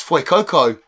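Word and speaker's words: Fuecoco: YouTuber might say and go oh oh that's FY Coco okay I've been saying it wrong so this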